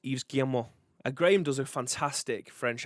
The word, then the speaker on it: Yves Guillemot: Tino says it pronounced Yves Guillemot.